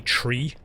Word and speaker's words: three: i'll talk properly like a lot of irish people when they say the word three they say tree they don't pronounce the h so they it's like give us give us three bags of chips there